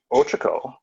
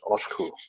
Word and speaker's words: Ochiko: And it's funny because Ochiko is not actually how you pronounce her name. I've got it spelled there, O-C-H-I-K-O. How you actually pronounce it is Oshku, right?